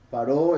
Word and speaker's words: Paró: Paró es como se pronuncia, ¿verdad? Lo que comúnmente llaman faraón.